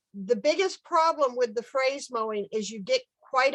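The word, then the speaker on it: fraise: the compost someplace but phrase mowing is spelled it's spelled f r a z e f r a i s e look at some of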